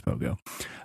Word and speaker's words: Pohgoh: How do you pronounce this?" But then it's Pohgoh.